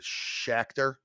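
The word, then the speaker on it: Schachter: hoyer and alex uh i'm going to say his name right but shakhtar it's s-c-h-a-c-h-t-e-r so that's would require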